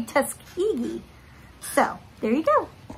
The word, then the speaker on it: Tuskegee: and i actually looked up google translate and that is how you say tuskegee so there you go